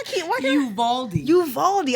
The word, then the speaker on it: Uvalde: Uvalde. I want to say Oofdale so bad. I get it because of the way it's spelled.